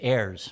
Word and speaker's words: Ayres: I believe it's Ayres. Ayres, okay.